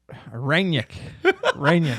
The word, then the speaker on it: Rangnick: Pronounce it for me. Rangnick.